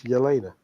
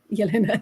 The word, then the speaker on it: Jelena: And the reason I make the point was because, as we know, it is Yelena. Yelena, yeah. And it's like you've mispronounced her first name, and you're telling me